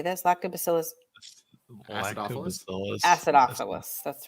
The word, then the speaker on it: acidophilus: Lactobacillus Acidophilus?